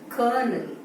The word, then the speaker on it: colonel: இந்த ஸ்பெல்லிங்க நம்ம ரீட் பண்ணா கலோனல் அப்படின்னு ரீட் பண்ற ப்ரொனவுன்ஸ் பண்ற மாதிரி இருக்குது. But that is wrong. இத வந்து எப்படி ப்ரொனவுன்ஸ் பண்ணணும்னா கர்னல், மிலிட்டரி ஆபீசரோட ஒரு போஸ்ட் வந்து கர்னல். கர்னல் அதான் இதோட pronunciation.